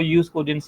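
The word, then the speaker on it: jus cogens: जो proper pronunciation है उसकी वो यूज कोजेंस ही होती है।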